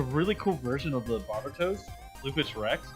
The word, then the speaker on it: Barbatos: I'm like, "Oh yeah, have you seen the Barbitaros?" And somebody goes, "You didn't say it right."